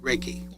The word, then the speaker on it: Reiki: Reiki.